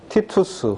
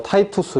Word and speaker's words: 티투스: 여러분들이 잘 아실 겁니다 로마의 장군 티투스 혹은 d도라고 합니다 혹은 뭐 타이투스 이렇게 발음하기도 로마의 디도장군이 로마 군대를 데리고